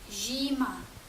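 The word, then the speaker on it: zima: склад читається як ші та з літерою Z з з коли додаємо і прочитаємо як жі наприклад слово зима жіма або холодно жімно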